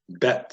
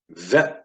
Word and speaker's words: Bet: So this is pronounced with a B as in boy. And when it is missing the dot, it is pronounced a V sound as in van.